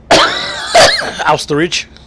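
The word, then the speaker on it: Österreich: Austerich.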